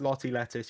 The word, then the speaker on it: Lottie Lettuce: It's Lottie Lettuce. You pronounce the T's, Americans, okay?